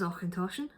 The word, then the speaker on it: Auchentoshan: and it gives us a guide to how to pronounce announcer says ochentoshan and actually gonna it's